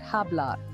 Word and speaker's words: hablar: goes for the word hablar to speak you don't pronounce the h you start with the a the letters b and